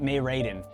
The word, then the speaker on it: Mei Raiden: it's it's well i just said it right mae raiden uh in hong kai impact there are two